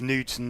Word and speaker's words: Knudsen: I think it's a long U. So the U. So it's Knudsen. I think so. It's Knudsen, not Knudsen.